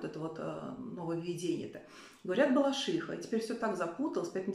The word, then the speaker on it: Балашиха: такого-то в нём закрепили норму приношения названия города с ударением на третий слог Балашиха ударение нужно ставить на Суфи иха Балашиха кольчиха Плющиха и вот это я